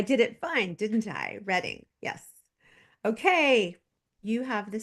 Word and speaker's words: Reading: and oh and she told me how you pronounce it so I did it fine didn't I reading yes okay you have the stage thanks DNA